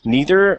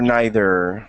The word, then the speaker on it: neither: it's up to you you can say neither or neither NE okay neither or